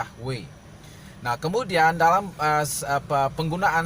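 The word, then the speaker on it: Yahweh: yang sulit untuk lafalkan maka ditambahkan huruf vokal diantaranya sehingga biasanya disebut yahwe ya Jadi ada penambahan I huruf vokal yaitu a dan A jadi menjadi yahwe nah kemudian dalam apa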